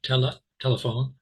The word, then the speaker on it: telephone: Now, I did not say tele. No, I didn't say that. If you were maybe speaking another language like Spanish, which I used to be quite fluent in, you maybe you would say that. Tele. That would be a second syllable stress, but it's not in English.